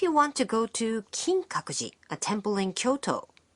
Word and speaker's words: Kinkaku-ji: want to go to kinkakuji a temple in kyoto the pronunciation is kinkakuji kinkakuji i will go is